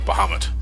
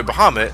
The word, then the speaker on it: Bahamut: Dragon Bahamut or Bahamut whatever I I'm pronouncing as baham that's how I I always pronoun as baham I think I think